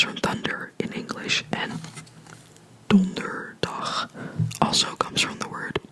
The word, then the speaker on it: donderdag: of the word, so donderdag, and again, this is just day, so dag, short sound, donderdag, syllable by syllable, donderdag, donderdag, donderdag.